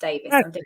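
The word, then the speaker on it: Davies: It's IES, but pronounced Davis.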